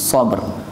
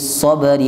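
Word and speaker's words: الصبر: Wa tawasau bis sabr. Banyak orang yang keliru baca ayat ini. Dibacanya wa tawasau bis sabri wa tawasau bil haqq. Kuali ya. Cara ngingatnya gampang Bapak Ibu. Ingat-ingat bahwa ujungnya semua huruf ra.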